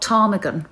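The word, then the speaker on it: Ptarmigan: who called her child tarmigan with a silent pee i mean what a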